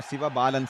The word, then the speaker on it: Sivabalan: Sivabalan Sachin, beg your pardon there. Kindly excuse me. Just mispronounced your name.